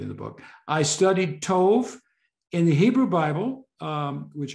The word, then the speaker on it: Tov: It is Tov, but some people say Mazel Tov, and I think they have some kind of accent. But it's a holom in Hebrew, usually pronounced as a long O.